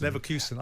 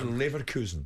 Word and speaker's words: Leverkusen: Leverkusen. And then it's Bayer Leverkusen.